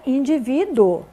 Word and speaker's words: indivíduo: aqui né a palavra indivíduo é paroxitona acentuada na penúltima né paroxítona lembrando é